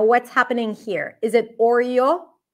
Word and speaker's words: Oreo: The reason why this is not an O sound, first of all, because it's a diphthong, it's an R vowel. Oreo, Oreo. That would be how you would pronounce it with the O as in go.